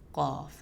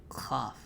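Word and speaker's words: ق: One of the mistakes that people commonly make when pronouncing qaf is making it sound too much like kha, kha. So let's say khaf, khaf, or khaf, kha. It's kind of mixing the two. If there's any sound of kha in it, then it's not being pronounced correctly.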